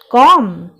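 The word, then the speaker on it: comb: क्या कहा जाता है कॉम यहां बीच साइलेंट है इसे सिर्फ कॉम कहा जाता है का मिक्सचर लेते हैं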